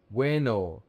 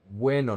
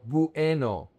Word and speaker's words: bueno: Weno. The deep tongue is important. Weno, not bueno. It's weno. W. The deep tongue is pronounced together. The two vowels are pronounced together.